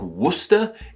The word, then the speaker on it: Worcester: like the previous names what's odd about this one is how it spelled versus how it's pronounced despite being said like Worcester it is spelled w-o-r-c-e-s-t-e-r